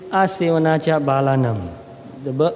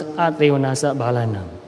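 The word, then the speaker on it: asevanā ca bālānaṃ: In Pali it is Asevanacha Balanam. In Burmese we pronounce in a slightly different way. We pronounce Atevanasa Balanam. And the meaning is not to associate with fools.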